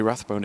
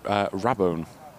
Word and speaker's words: Rabone: it's not Jay Rathbone, it's Jay Rabone, I believe. Again, the pronunciation of that is probably... the jury's still out for that one.